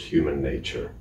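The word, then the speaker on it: Human. :II: Nature.: But the album should be pronounced human nature.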